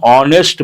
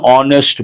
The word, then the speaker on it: honest: degree people mispronounce an honest man but people say a honest no h sound that sound is silent based on that we have to say an honest man an honorary degree